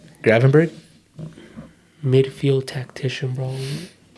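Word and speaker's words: Gravenberch: this fool is going off um Garvin Burch is that how you say his name Gravenberg midfield tactician bro their whole team you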